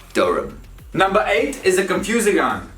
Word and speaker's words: Durham: watching will have probably lived there it's not dura ham it's durham again synthesize shorten and overall just be lazy with the pronunciation because that's how you actually end up speaking the real spoken english it's pronounced durum number eight is a confusion we've got shrewsbury